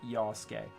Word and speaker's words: Yasuke: The U is silent. It sounds like Yasuke.